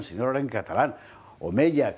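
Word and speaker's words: Omella: Omeya, que yo siempre lo pronuncio con Y porque es lo que me parece que le queja mejor que Omeya, ¿qué quiere usted que le diga?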